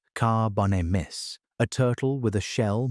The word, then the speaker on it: Carbonemys: There was Carbonemys, pronounced Carbonemys, a turtle with a shell more than 5 ft across, and jaws strong enough to crack the bones of small crocodiles.